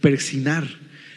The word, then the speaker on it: persignar: que se hacía persignar Pero más bien es persignar porque lo estás lo estás haciendo es una